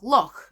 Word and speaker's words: loch: in the Scottish accent, notably in Scottish words like loch, spelt L-O-C-H. So in Scottish, this sound often comes at the end of the word and is spelled with the letter CH, whereas in Welsh, the